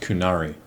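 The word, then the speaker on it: Qunari: it's pronounced kunari kunari whatever I don't play Dragon Age so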